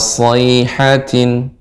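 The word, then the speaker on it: صَيْحَةٍ: So bukan sho, tapi so Ibu, tajam dan dia tebal. Yahsabuna kulla sayhatin.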